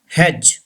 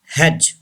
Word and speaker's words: hedge: Hedge. Say this word. Hedge. D is not pronounced.